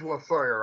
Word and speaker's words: Losawyer: that how do you say your last name la sawyer it is la sawyer i was thinking it like vaguely like the